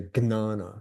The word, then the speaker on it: Jnana: I think, John, you tell me, like the Paka Sanskrits like to say Gnana, but right. I think it's a little bit regional.